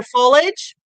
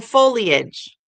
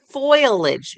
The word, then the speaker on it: foliage: It's either foliage or foliage. But she says foilage. She flips the I the O around.